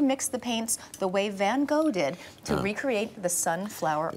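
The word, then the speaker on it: Van Gogh: the paint the way van go did to recreate the sunflower art in Dutch it's pronounced van or that all right uh what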